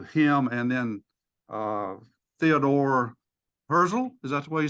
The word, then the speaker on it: Herzl: what happened through him and then uh Theodore herzl is that the way you say his name